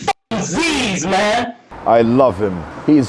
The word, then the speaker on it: Zyzz: It's not Zyzz, it's f***ing Zyzz, man!